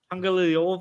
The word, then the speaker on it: Tagovailoa: He just tried to pronounce it. What is it? Tua Tagovailoa? What is it? Tua Tagovailoa? A rare flower. Tagovailoa?